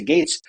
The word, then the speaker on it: Gaetz: it Gates or gats Gates is the way I hear it pronounced most often so she goes if